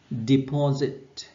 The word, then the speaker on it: deposit: Từ này trọng âm rơi vào tiết thứ hai, deposit.